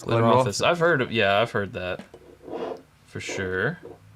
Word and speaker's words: Glenrothes: But it's Glenrothes. It looks like Glenrothes. It's Glenrothes.